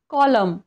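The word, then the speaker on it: column: एम एन सोबत आलं जर एखाद्या वर्ड मध्ये एम एन हे सोबतच आलं तर त्या ठिकाणी एन हे सायलेंट राहतं फॉर एक्झाम्पल कॉल स्पेलिंग काय आहे आपलं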